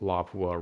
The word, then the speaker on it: Lapua: So as for the barrel, people traditionally use the SPR 26-inch barrel as as well as the 338 Lapua rounds. I think it's pronounced Lapua, not Lapua, but it doesn't matter.